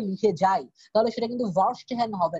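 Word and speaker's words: Verstehen: হ্যাঁ, দেখেন এখানে উচ্চারণটা আছে ভার্স্টহ্যান, জার্মান একটা ওয়ার্ড।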